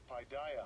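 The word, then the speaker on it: παιδεία: All right, this chastisement is the whole training, and let's get the pronunciation. 3809. Paideia.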